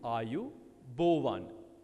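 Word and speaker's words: ආයුබෝවන්: it out once again how you say it is are you that's a by you are you bo one think of it as b-o-w-a-n are you bor1 shall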